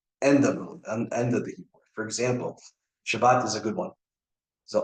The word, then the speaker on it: Shabbat: say shabas right that's you see the accents on the sha not the bot right or bas right um while will say shabbat okay now you might